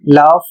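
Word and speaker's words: laugh: यहां पर देखिए जी एच का उच्चारण किया जाएगा फ जैसे शब्द लिखा है एल ए यू जी एच और इसे पढ़ा जाएगा लाफ।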